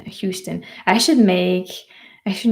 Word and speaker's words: Houston: So, we do pronounce the H in Houston.